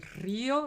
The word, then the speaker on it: Río: Eran de Pinar del Río, recuérdate, cae la fuerza de la pronunciación en la I. La I es una vocal débil, por lo tanto le pones la tilde.